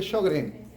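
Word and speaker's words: Sjögren: llama esa enfermedad autoinmune empieza con síndrome de shogren shogren apunten Cómo se escribe shogren s o J J s j o g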